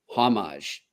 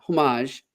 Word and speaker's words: Homage: our wonderful friends at homage not homage homage I've been pronouncing it wrong and I apologize to